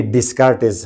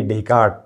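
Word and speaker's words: Descartes: ये जी डेट of birth 21 March 1596 एंड डेट of death हम बोलते हैं रेने डिस्कार्टिस, खैर पाकिस्तानी इंडियन सब, मगर ये एक्चुअली है रेने डेकार्ट।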